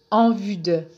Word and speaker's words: en vue de: un connecteur de but en vue de dans le but de sa prononciation est simple c'est en vue de en vue de n'oubliez